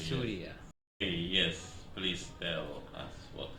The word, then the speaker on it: Surya: Yeah, but most people aren't able to pronounce it correctly, so it's Correctly, Surya.